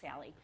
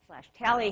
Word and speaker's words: Tally: I will say now the dog's name is tally not Sally because I will say it wrong because Sally tally has been a very continual patient of mine and actually has been seen by dr.